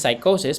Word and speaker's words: psychosis: Okay, alam ko ang pronunciation nun is psychosis pero in-emphasize ko lang yung P para matandaan nyo.